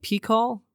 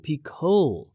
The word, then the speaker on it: Pico: down, I said, "Is that how you say that?" Pecall. He's like, "You do you mean Peol?" And I was like, "Oh, Pico. That's the name of it. Peacle." I I had just been pronouncing this mountain name wrong for a very long time.